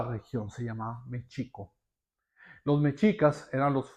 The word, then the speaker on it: Mexica: El más poderoso fueron los Mechicas, que era la unión de Tenostochtitlán con Tatelolco. De Mechica viene la palabra Mechico, es una mala pronunciación de los españoles a a México, a a Mexica, México.